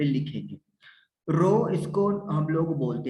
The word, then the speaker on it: rho: रो इसको हम लोग बोलते हैं RHO, रो। इसको मतलब प्रोनाउंस कैसे करना है?